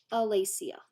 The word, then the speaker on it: Alicia: But if you guys want to know my real name, it's pronounced R-Lee-C-R. Alicia.